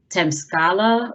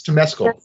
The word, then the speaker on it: Temescal: pronouncing this right but it's temp scala or temazcal wellness uh i completely butchered that it's temescal temesco okay all right temesco wellness thank